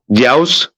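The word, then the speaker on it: Dyaus: know about like his name is Peter I'll spell it d y u a s jiaos Peter p-i-t-r okay the house Peter is father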